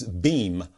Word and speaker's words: Beam Global: it last week again it's beam b-e-e-m but it's spelled beam global b-e-a-m global all right